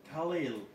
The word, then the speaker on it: Khalil: QSL, QSL, my friend, my name is Khalil Kilo Hotel Alpha Lima, India, Lima, Khalil.